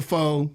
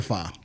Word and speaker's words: pho: I'm gonna hit you with the pho and not the fa. I will say though, if you find yourself slowly pronouncing it as pho, when you see certain restaurants that are very punny with their use of pho, it hits a lot more hilariously than when you say pho.